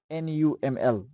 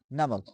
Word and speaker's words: NUML: But in the acronyms, we pronounce the word as a whole. Like for example, we have pronounced the word National University of Modern Languages NAML as a whole. We didn't define it as NUML. We pronounce it as NAML.